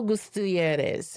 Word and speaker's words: Gutierrez: That's why the liberation theologian, that's how you say it, Gustavo Gutierrez, he insisted the gospel is not merely a